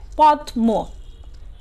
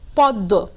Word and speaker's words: পদ্ম: তারপরেরটি দেখো পদ্ম, তেমনি পদ্ম শব্দটিতে প যোগ দ যোগ মফলা সংযুক্ত, এটার আমরা যদি মফলা সহ উচ্চারণ করি তাহলে হবে পদ্ম, কিন্তু আমরা বলি কি পদ্ম, এখানে ম এর উচ্চারণটা কিন্তু কি আসেনি, তাই না শিক্ষার্থীরা, হ্যাঁ, এখানে দ কি হয়েছে, দুইবার এসেছে, অর্থাৎ দ এর উচ্চারণটি